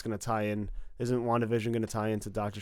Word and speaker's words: WandaVision: WandaVision Yeah, is the correct way to say it.